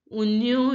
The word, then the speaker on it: oignon: Onion is pronounced as oignon in French.